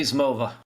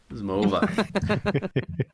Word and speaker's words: zmowa: This podcast is nearly Zmova. Zmova. That should be easy to pronounce.